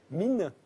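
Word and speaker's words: Minne: Mine, c'est comme ça qu'on prononce.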